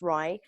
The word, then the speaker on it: RIE: It's pronounced RIE.